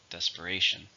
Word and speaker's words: desperation: is an uncomfortable now how many syllables are in desperation four syllable stresses on the third desperation in desperation they jumped